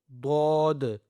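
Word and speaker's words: ضاد: And then we have dod, okay? With the full mouth.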